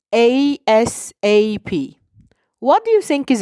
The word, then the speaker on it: ASAP: We pronounce it as ASAP.